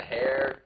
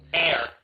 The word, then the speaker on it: heir: how you pronounce it air sh oh what they say hair yeah you said hair it's air oh Jesus it is is is the air to the kamak sugut yeah H is silent all right I'm sorry